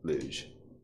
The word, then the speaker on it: luge: thinking of liege wait how do you pronounce luge you know that just luge yeah that's correct lose lose wait that's